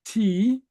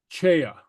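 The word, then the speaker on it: tì: And both pronounced with a hard T. Kind of unusual in Gaelic if the T is followed with a slender vowel. And the rule there is very often if a word is adopted from English as T is, it adopts some aspects of the English pronunciation. So hence, tea, not chea.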